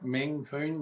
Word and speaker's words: Meng Foon: relations commissioner um Mr phone is that how I said it right yeah main phone yeah all good awesome um